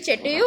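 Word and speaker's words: château: Seize कर लिया और चिटेयू को अटैक कर दिया, ठीक है। चिटेयू को क्या किया, अटैक किया। क्या है भाई, ये जो लिखा हुआ है ना, इसका प्रोनाउंसिएशन चेटेयू होता है, ठीक है।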